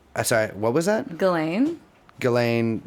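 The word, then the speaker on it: Ghislaine: what was that going ghilane what is that that's going Maxwell's name that's how you say it it's like an Australian kind of said ghilane that's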